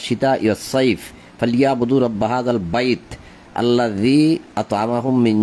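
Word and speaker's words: البيت: তারপরে ফালিয়াবুদু রাব্ব হাযাল বাইতি, এখানে আছে রাব্ব হাযাল বাইতি, আপনি কিন্তু বাইতি বলেন না, আপনি কি বলেন? ফালিয়াবুদু রাব্ব হাযাল বাইত, বাইত, অর্থাৎ আপনি শেষের অক্ষরকে অর্ধেক উচ্চারণ করছেন।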